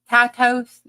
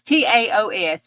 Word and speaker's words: Taos: The well, how do you say that? Tatos? No, it's not. Taos? No, it's Taos.